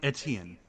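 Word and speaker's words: Étienne: It's uh I I don't know how to pronounce it because it's a French name, but it's this guy.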